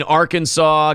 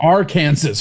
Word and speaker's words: Arkansas: Yeah, I mean, Arkansas, guy chops his leg off. No, you're saying it wrong. Arkansas, bro.